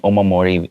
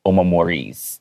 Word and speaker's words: omamori: And then right now I'm saying omamori, but you can't tell if it's singular or plural. Because this word is not originally English, we tend not to put an S at the end because it's not an English word. But you might hear some people say omamoris. They might make it into an English word. Okay, so both are acceptable.